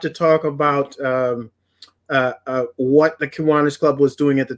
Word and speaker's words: Kiwanis: I say Kiwanis, but it's actually an Indian term, and the correct pronunciation is Kiwanis.